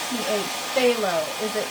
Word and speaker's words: Phthalo: Phthalo. Is it? Oh, it's TH. Phthalo blue. Oh, thank you, Bob Ross. Why would they do it PH and then have it sound as TH?